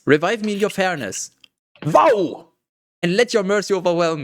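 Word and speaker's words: wau: But in German it's W-A-U, but in terms of pronunciation, it's pronounced wow.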